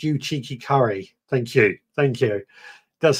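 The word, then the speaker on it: Uchiki Kuri: Digra says, it's pronounced you cheeky curry.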